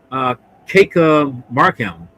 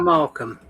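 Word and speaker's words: Kika Markham: person here, which is make sure I just pronounce her name. Keika Markham, which is played by that's the name of the actress, but she plays Carol. Markham.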